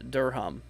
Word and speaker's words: Durham: missed my house also Durham is pronounced like uh Durham oh okay Durham gotcha